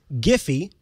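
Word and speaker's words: Giphy: surface that's not a good rule the service giffy that's how it's pronounced so that's how i'll pronounce it cuz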